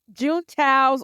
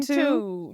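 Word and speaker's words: Juntao: June Tao's organization. Stop trying to say it American. Like, I you're can't. like June Tao.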